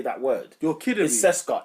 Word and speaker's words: CSKA: but like yeah but cesa cesa is how you pronounce their name cesa mosco CES mosco baffling but yeah they got mosow in it yeah then they got I've been saying CSK from the days ready